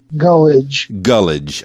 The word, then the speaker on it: Gulledge: Am I pronouncing your last name properly? Gulledge.